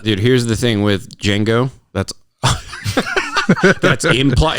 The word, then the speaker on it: Django: question tarantino movie django django the d is silent his billy yeah shango